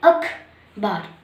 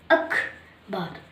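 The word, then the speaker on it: ਅਖ਼ਬਾਰ: यहाँ पर हम ख के नीचे बिंदी लगाएंगे, क्योंकि जब इसका उच्चारण किया जाता है तब हम इसे अखबार में बोलते हैं। हम इसे बोलते हैं अखबार, अखबार। तो ख के साथ हमारा है का भी उच्चारण हो रहा है, और जब पंजाबी में किसी भी वर्ण के साथ है का उच्चारण होता है तो उसके पैर में बिंदी लगा दी जाती है।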